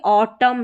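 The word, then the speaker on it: autumn: यहां देखिए ऑटम है। लास्ट में जो एन है ये साइलेंट है।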